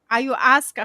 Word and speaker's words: ayahuasca: An interaction with me can be just like ayahuasca. How do you pronounce it?